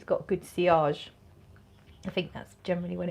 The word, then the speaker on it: sillage: power on me is it is that called spillage um i think you mean ciarge which is is pronounced it's pronounced cr is spelt as if